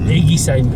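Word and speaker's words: Eguisheim: Et ça se prononce Igesheim. Egisheim. Egisheim. Egisheim.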